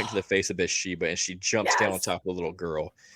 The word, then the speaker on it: Bathsheba: Bathsheba.